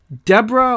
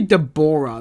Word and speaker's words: Deborah: I always want to say Deborah, because if you look at the way that most people spell Deborah, it looks like Deborah. And I'm just like, why don't we enunciate it with 3 syllables? Because is the O silent? Who even makes a vowel silent? I say even though phonetically the E in my name is silent, but like, who even makes an O silent?